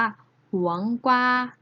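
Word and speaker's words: 黄瓜: กวา นะ คะ ได้ ภาษา จีน แล้ว จะ ออก เสียง ว่า หวง กว่า หวง กว่า หวัง กว่า นัก เรียน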